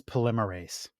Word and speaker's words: polymerase: She goes, it's polymerase. I'm like, it's what? Polymers? Polymerase. I'm like, you gotta be kidding me. So, of course, I run to Google and Google pronunciation. Polymerase chain reaction.